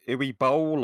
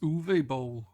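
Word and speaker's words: Uwe Boll: Is it UI Bowl or I think it's pronounced Uve Bowl.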